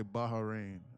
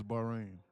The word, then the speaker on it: Bahrain: But black people say Baharin and but I don't I don't think that's correct. I think it's Bahrain.